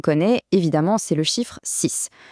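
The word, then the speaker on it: six: L'exemple que tout le monde connaît, évidemment, c'est le chiffre 6. Quand on le prononce tout seul, le X à la fin sonne exactement comme un S.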